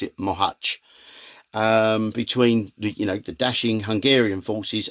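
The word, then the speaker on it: Mohács: I know in English people pronounce it as Mohacs, but I can tell you I've got an extremely good Hungarian contact, and the Hungarians pronounce it Mohacs.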